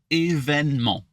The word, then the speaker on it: événement: C'est un grand événement. Oh, événement. Wait, say that again. Oh, it's technically événement, but Événement. yeah, but you can shut off that E in the middle. Événement.